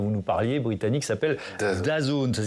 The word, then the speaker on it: DAZN: la chaîne dont vous nous parliez, britannique, s'appelle DAZN, ça s'écrit D-A-Z-N.